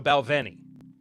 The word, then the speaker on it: Balvenie: Is this one pronounced with a W or a V? I can't remember. I've heard it both ways, and I'm not just saying that because it's a reference to one of my favorite shows of all time. If you get it. What up? But it is a V, so Balvenie.